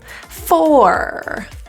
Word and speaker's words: for: little function word so native English speakers generally reduce that o into a quick transition from F to R it sounds like fur as in animal fur but it's quick fur I this can